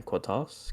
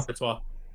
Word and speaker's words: Courtois: Cortez. How do you fucking say his name? Courtois.